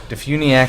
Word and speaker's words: DeFuniak: yeah DeFuniak I know Defuniak Springs Florida oh and you know even where the emphasis goes it's on the all caps DeFuniak oh I have a